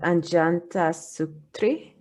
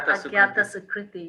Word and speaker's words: Agyata Sukriti: I just really like the concept of, I'm going to mispronounce it, Anjanta Sutri. Yeah, Agyata Sukriti, yes.